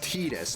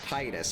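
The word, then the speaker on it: Tidus: Final Fantasy 10 or no, it was uh Kingdom Hearts where they officially declared that Titus's name was it was it's pronounced Tetus, not Titus.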